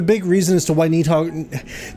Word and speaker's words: Nidhogg: reason as to why Nidhogg, they say Nidhogg, I know it's Nidhogg, that's the way I think you're supposed to pronounce it.